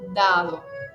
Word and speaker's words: dado: Dado, siempre acentuando la primera. No acentúo la segunda porque tengo una sola d.